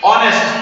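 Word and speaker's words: honest: তো এখানে অনেস্ট উচ্চারণ শুরু হলো অ দিয়ে, তাহলে আমরা এখানে কি বসাবো?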